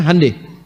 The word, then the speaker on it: Hyundai: Honda mereka bikin hande Hyundai itu dibacanya hande ya jadi selalu begituah